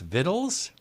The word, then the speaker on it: victuals: ND endive we have Vict you ALS victuals which are pronounced vittles I got into trouble